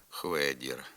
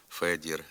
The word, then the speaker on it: Федір: про вимову звука ф дуже часто чуємо хвабрка хванера хвасон хведір хвізика хворма замість фабрика фанера фасон Федір фізика форма Чим же пояснюється наявність